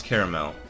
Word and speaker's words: caramel: ] to talk about I don't pronounce caramel I pronounce it three syllables yeah I put only